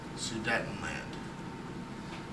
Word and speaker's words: Sudetenland: Germany after the Treaty of Versailles so that is spelled s u D DT en and the land such a letdown Sudetenland all right so he basically he's gonna meet